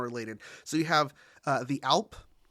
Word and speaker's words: Alp: So you have the Alp, pronounced Alp. Alp.